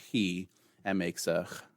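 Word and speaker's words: chi: different than you know fraternities today when they pronounce it chai or KY that's alright for them and and if you pronounce it that way - that's fine we won't have sleeve for it but in this pronunciation scheme it's it's named hee and makes a sound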